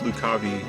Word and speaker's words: Lucavi: I think he knows about the Lucavi. Does he? I think he finds out about the Lucy after this battle. I don't know. And yeah, I know I know it's pronounced Lukabi in the in the in the Chronicles of